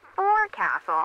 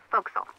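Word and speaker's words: forecastle: ship but it's pronounced Fel why is that try pronouncing it like an English sailor with no formal education F Castle folville over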